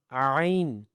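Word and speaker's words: ع: Okay, so how to pronounce it? From your upper part of throats, okay, ain.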